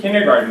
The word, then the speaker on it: Kindergarten: So from nursery to kindergarten, right? How do you pronounce this in Deutsch?